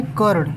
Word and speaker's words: कर्ण: अभी अड़ पे लगा है, तो अड़ का जब ये अड़ पे लगा है, तो ठीक इससे पहले इसका उच्चारण होगा तो करण, यानी कि कर्ण।